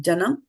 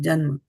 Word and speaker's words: जन्म: So this is third line, first word is not janam, because there is no Janma. A. Janma, yeah. If it was Janma. janam, then the Prabhupada would have put a A here, right?